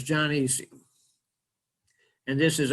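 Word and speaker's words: gynoecium: is the jonesium and this is a diphthong which means the o is silent so it's not ginoesium it's john easy and this is andrew's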